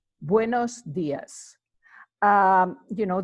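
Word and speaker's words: días: you could say buenos dias buenos dias you know the accent in the I hear this accent you know indicates where you would you know place the emphasis on that particular words we would say when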